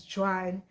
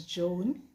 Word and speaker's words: Joan: j o a n what i call i pronounce it as gian but the name has um hebrew english and french origins and it is pronounced as joan in those clients but my parents are nigerians